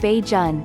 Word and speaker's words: Bajan: are officially called Barbadians the term Bajan pronounced beige on may have come from